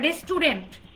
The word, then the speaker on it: restaurant: ইউ লেটারটাকে যদি আপনি silent করে দেন, just make the you later silent, আমি কিন্তু সাথে লিখে দিচ্ছি, তাহলে প্রনাউন্সিয়েশনটা কি হচ্ছে? ইটস রেস্টুরেন্ট।